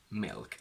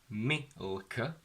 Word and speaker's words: milk: I want you to mentally think of the dark L sound coming into the I while it's still going. So I don't want milk, I want milk, milk.